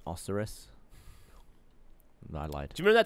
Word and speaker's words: Osiris: of Osiris which I have bested uh it's pronounced oseris I lied do you remember that time you